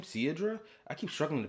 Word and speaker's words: Cerydra: That's how you pronounce her name. Cedra.